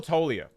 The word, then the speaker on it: Toglia: Michael Toglia. Immediate S tier card. Now, when we're talking about Toglia, what are we talking about here? Well, I hope it's Toglia, not Toglia. I'm assuming the G is silent.